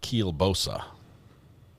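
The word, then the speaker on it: kielbasa: In Texas, we pronounce it Kilbosa.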